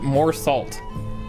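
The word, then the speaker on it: Meursault: Mersault from The Stranger, because the Olympus Company's story is based on several books. Oh, it's pronounced more salt.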